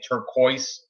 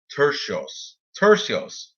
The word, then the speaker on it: Turcios: In my show, I kept saying turquoise. That is totally not how you say it. But the C, I didn't know if that was a hard C or a soft C. I didn't know. But it's Turcios.